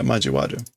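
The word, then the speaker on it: 交わる: But I did not pronounce that right. What is it with this kanji? Majiru, to be mixed. Oh no, but it's wa. Majiwate? Yeah, majiwaru. To cross.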